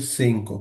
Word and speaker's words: cinco: পাঁচটাকে আমরা পড়বো হচ্ছে সিঙ্কো।